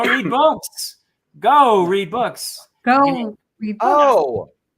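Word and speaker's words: Geau: It's just go. It's French. It's go.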